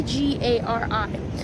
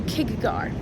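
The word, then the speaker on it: K'gari: so it's spelled k g a r i and I want to go kagar but it's gari they almost like they almost just forget about the K they go kagari gari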